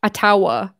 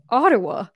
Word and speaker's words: Ottawa: I forgive myself because I saw American News Network pronounce my city completely wrong. It was like Ottawa. The capital of Canada, Ottawa. I was like, excuse me. It's Ottawa.